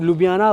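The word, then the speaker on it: Ljubljana: बहुत थोड़ा जब आप इसको स्पेलिंग पढ़ोगे अल्फाबेट्स पढ़ोगे तो कंफ्यूजन हो सकती है। बट लुबियाना इसको नॉर्मली प्रोनाउंस कर सकते हैं इजी वे में।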